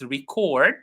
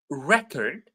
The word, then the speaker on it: record: And record. Hey, did you listen to the artist's latest record? So when it is a noun, it's the first syllable. When it is a verb, it's the second syllable.